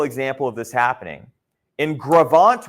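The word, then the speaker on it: Gros Ventre: Now, in a larger scale example of this happening, in Gravant, Wyoming, okay, which is spelled like that, Grosventree, okay, T-R-E, I think I said 2 E's there. Gravant, there was a river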